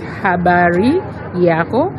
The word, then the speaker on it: habari yako: I can say habari yako, which means how are you? So it's habari yako. It's the way it's pronounced, that's the way it is written.